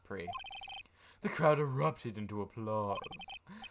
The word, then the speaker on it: prix: audience pre i'm gonna yeah it is pronounced pre chat the the p-r-i-x it's pronounced pre the crowd erupted into